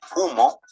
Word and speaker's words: humo: Te dice, hey, ten cuidado con la H, que es una letra que no tiene sonido. Por eso decimos humo, hormiga y cohete.